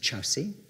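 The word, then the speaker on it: Kyaukse: His carriage was detached at a place called Chowsi. It's spelt Korksi, it's pronounced Chowsi.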